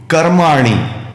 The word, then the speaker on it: कर्माणि: योगस्थ योगस्थः कुरु कर्माण ध्यान दीजिए कर्माण में णी की मात्रा रस्व मतलब छोटी वाली है।